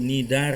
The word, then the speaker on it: Cnidaria: cnidaria atau selesai rata ini pronounced nya atau menyebutnya itu Nizar ya nama itu berkaitan dengan